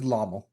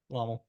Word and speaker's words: LOML: Those first five songs up to okay, how you pronounce Iomel? Lomel? It's LOML because it's an That is acronym an L, for right? Love of My Life. Okay. So it is Lommel. Lommel.